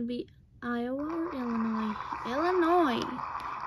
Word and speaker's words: Illinois: Illinois! I know it looks like Illinois. Me, when I was younger, I always thought it was Illinois. But apparently, you pronounce it as Illinois.